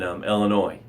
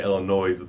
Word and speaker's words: Illinois: when I arrive in Illinois is in eight hours he's going deer hunting in his prime on his property in in Illinois awesome if there's the S is silent I think always say illinois's then when you're in